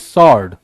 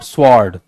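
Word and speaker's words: sword: That is सॉर्ड, नॉट स्वॉर्ड, सॉर्ड, right.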